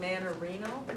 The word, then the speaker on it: Manarino: And how do we pronounce it, Manarino? You got it.